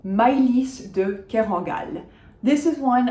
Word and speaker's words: Maylis: So we are saying the S at the end, Maylis. The first syllable is my, like my love, Maylis, de Kerangal, if you want.